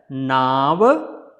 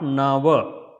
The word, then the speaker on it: Nava: So it is not Nava. Lot of people will say Nava. Yeah, so it is not Nava, it is a Naava. Naava is the boat. In Sanskrit, Naava is the boat, not Nava.